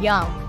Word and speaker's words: Jung: e ball player so your last name is j u n g but it's pronounced young what is your family's